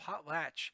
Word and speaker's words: potlatch: pretty familiar to you a potlatch sounds like the word a potluck a potluck if you've